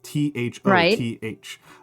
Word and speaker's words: Thoth: Would you or would you not bury yet another mummified ibis beneath the step pyramid of Zoser in Egypt as a sacrifice to the god Thoth?